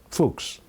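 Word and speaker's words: Fuchs: problems my spiritual advisor that's German how do you pronounce that fols okay fuks okay that's Dr Paul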